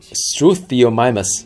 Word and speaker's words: Struthiomimus: So Struthiomimus, that's how you pronounce it.